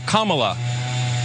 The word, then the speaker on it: Kamala: Her name is pronounced comma, like the punctuation mark la, Kamala. Okay?